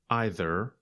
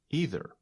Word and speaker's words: either: have the same meaning we can pronounce it either or either you say either and I say either there's a famous American